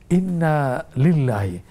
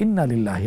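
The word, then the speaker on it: إِنَّا لِلَّٰهِ: হচ্ছে এই কথাটা বলা ইন্না লিল্লাহি আম অনেক সময় দেখি মিডিয়াতে উচ্চারণ করা হয় ইন্নালিল্লাহি না এখানে টান হবে ইন্না লিল্লাহি ওয়া ইন্না ইলাইহি রাজিউনট না দেয়ার কারণে অর্থ পাল্ট আবার এখানে একটু প্রাসঙ্গিক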